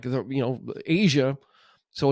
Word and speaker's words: Aja: this was kind of like the you know Asia so it's it's spelled a j a so if you never